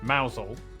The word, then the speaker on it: Mousehole: over to rampisham Ransom then down to mousehole mausole next to the club North up to Tau